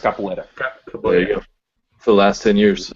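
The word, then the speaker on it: capoeira: this right it's uh Capo era yeah it's pronounced capoa for the last 10 years um it's kind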